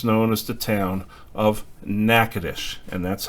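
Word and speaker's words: Natchitoches: it later becomes known as the town of nakadish and that's how it is pronounced the map that you see here is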